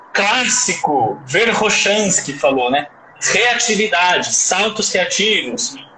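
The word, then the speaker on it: Verkhoshansky: Isso é uma regra, mas o nome correto, a pronúncia correta é Verhoshansky, Roshansky, certo?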